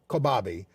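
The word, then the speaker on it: Kobabe: uh Maya is how we say her name kabi uh number two is all boys aren't Blue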